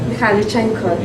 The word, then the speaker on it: Mikhailichenko: Yes, how would you pronounce his name? Mikhailichenko.